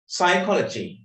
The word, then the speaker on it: psychology: Psychology. මනෝවිද්‍යාව. Psychology. Okay, P කියන්නේ නැහැ අපි psychology කියන්නේ නැහැ. Psychology කියලා කියවෙන්නේ P. P is the silent letter.